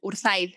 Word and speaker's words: Urzaiz: espero haber pronunciado bien tu apellido si las pronunciado genial urzaiz siempre cuesta pero pero sí dado esto genial